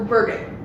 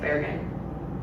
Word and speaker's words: Bergen: mean it might be that might be the norwegian way of saying it's bear again i love bergen if